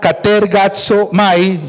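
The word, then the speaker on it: κατεργάζομαι: Ocúpense, la palabra griega que ustedes ven allí, pronunciada katergazomai, yo no hablo en griego como el hermano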